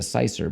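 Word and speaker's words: cyser: It's spelled It's spelled C-Y-S-E-R. Cicer. With a Y.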